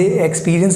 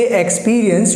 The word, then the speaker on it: experience: अगर आप भी इसे एक्सपीरियंस बोलते हैं तो आप गलत हैं। इसका जो सही प्रोनाउंसिएशन है उसमें सिर्फ इतना फ़र्क करना है आपको कि जहां आप एक्स बोल रहे हैं उसको बोलना है एक्स।